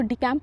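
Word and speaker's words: decamp: इसको डिकैम्प पढ़ेंगे, डिवैकल नहीं पढ़ेंगे।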